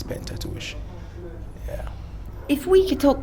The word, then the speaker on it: Pentateuch: i researched it and actually they changed the pronunciation from pentateuch to pentateuch but we decided to go with the original pronunciation which is painted tuition yeah if we could